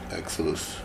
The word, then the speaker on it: Exilasse: 4-year-old Elijah, how you pronounce it? Exilasse.